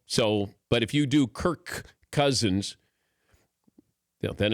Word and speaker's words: Cousins: all blend them together since cousins starts it's a it's a hard C so it's Kirk Cousins it's kind of like I'm adding another K and do I really